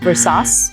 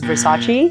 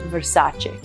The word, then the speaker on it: Versace: So the heaviness is on the sa, and then again the CE is a che. So it's not Versace, which is actually what a lot of Chinese people think it is initially. They're like, oh, is it Versace? And it's not what actually most people call it, which is Versace.